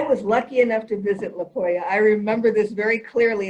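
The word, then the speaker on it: Poja: i want to mention to everyone that it's pronounced uh it's a spelled poya p-o-j-a and as i said i i don't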